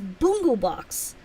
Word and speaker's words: Bungu box: It is Bungu box, not Bungu box or Bung box or anything else. It's Bungu box.